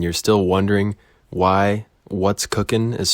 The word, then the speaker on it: Koch: It's spelled Koch. It's pronounced Cook. Yeah, it's really strange way of spelling Cook, but I was not the one that decided it. I simply was born into it, and I have no choice, really. So I've heard every mispronunciation you could ever dream of. I've heard coach, koch, kuch, you name it.